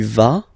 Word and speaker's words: vas: Basically you pronounce it like for the tu because you don't pronounce the final S, okay, il va, elle va, okay, je vais, tu vas, il va, elle va.